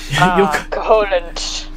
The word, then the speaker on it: Koholint: Like lint. Like, we did some laundry, I got lint. Yeah. Koholint.